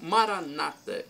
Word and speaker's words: Maranata: o dialeto de Jesus ou Maranata com a tônica na penúltima sílaba como dizem os protestantes não importa a pronúncia